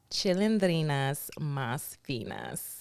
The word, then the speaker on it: Chilindrinas Mas Finas: me is wild so please pronounce the name of your podcast chilindrina's Mas Finas what the does that mean